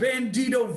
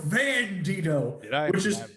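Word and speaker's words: Bandido: that took place recently you got it right except you called bandito vandido which is honestly somewhat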